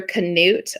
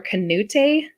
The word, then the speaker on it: Canute: of this Oklahoma town so it's either knut or Knute c-a-n-u-t-e it's a little tiny town I think it's Canute I think so too if anybody listening from knut thinks I'm doing it